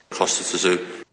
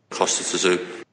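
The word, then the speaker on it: Kostya Tszyu: Pronounce his name properly. Costa Zoo. Sorry, say it again. Costa Zoo.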